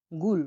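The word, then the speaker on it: gul: জি উচ্চারণ হয়ে থাকে গয়ের মতো, আমরা উদাহরণ দেখছি দেখুন, উদাহরণ হচ্ছে গুল। গুল, গয়েশুল গুল।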